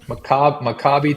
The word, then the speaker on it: Maccabi: Okay, so we've got Laramie, Wyoming, and Maccabi. Is it Maccabi? How do you say it? Maccabi Tel Aviv.